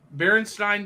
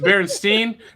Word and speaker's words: Berenstain: Is it Berenstain? That's the debate, isn't it? Berenstain. So my whole life, I always knew it as Berenstain. Can clearly see it, like in my memories of how it's spelled, but it's Berenstain. Berenstain, yeah. Which is wrong. There's a lot of conspiracy theories about parallel timelines involving Berenstain Bears. From Southern culture, and it's Bernstein Bears.